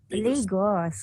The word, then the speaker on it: Lagos: Lagos. Lagos.